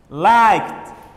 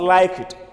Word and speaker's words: liked: Well, like, the word, the verb like has a K sound at the end, and the letter K belongs to the voiceless letters. Therefore, it should be pronounced as T. The ED should be pronounced as T. Like, liked, liked, not like it, not like it. We pronounce the ED as T.